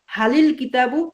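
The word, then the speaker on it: هل الكتاب: আবার আল কিতাবু, তো আলিফ লামের যে আল কিতাবুর যে আলিফটা আছে, এই আলিফটা কিন্তু লেখায় আসে, যদি তার পূর্বে কোনো শব্দ থাকে তখন এই আলিফটা লেখায় আসবে কিন্তু উচ্চারণের সময় আসবে না। তখন হাল আল কিতাবুরে আমরা মিলাইয়া বলবো হালিল কিতাবু জামিলুন।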